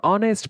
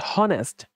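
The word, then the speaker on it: honest: করে বলছি দস হয়াই আমরা যখন এটাকে উচ্চারণ করি সেটাকে বলি আমরা অনেস্ট বলি অনেস্ট অনেস্ট অনেস্ট বলি ওকে নট হনেস্ট আমরা ওকে প্রাধান্য দিই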